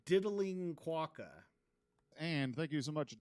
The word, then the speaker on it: quokka: recent episode all right it's a quaca so you're going to need to get that right all right remember quer